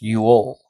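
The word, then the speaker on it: jól: The term Yule originates from the Old Norse Yule, j o l, pronounced Yule, y u o l, which is documented as one of the oldest winter solstice festivals in northern Europe.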